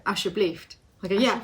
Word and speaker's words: alsjeblieft: you'll say a Dutch word, I don't know, alsjeblieft, and I'll go alsjeblieft, and he'll go, no, alsjeblieft.